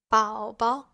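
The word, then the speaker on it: 宝宝: For example, 宝宝, 宝宝. Here, the second character has a neutral tone.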